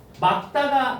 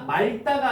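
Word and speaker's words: 맑다: 막다가 말다가 아니고 막다 알겠니?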